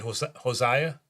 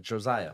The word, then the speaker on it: Josiah: Oh, I said Hosea. I hope I'm pronouncing it right. Josiah.